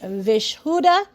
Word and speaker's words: Vishuddha: The throat chakra is pronounced vishuddha.